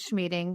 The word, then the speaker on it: Schmieding: So my name is Schmieding, rhymes with meeting, which is funny because my husband always says that he never even thought of that.